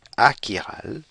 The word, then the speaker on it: achiral: Et sa contrepartie opposée, achiral, est prononcée de la même façon.